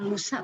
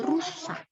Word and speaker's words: rusa: Kita ajari terus rusa, bukan lusa tapi rusa. Rambut, bukan lambut gitu ya.